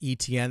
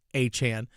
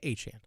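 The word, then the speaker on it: Etienne: Also behind him is is Trevor Achan, who is um by the way, I understand that a lot of people pronounce it ETN. That's how it used to be pronounced. But again, it is Achan because his brother Travis said that's how his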